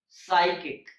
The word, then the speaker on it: psychic: In English, all the words that starts with PS have a silent P, like psalm, psalter, psychology, psychic, psychotic, and pseudo.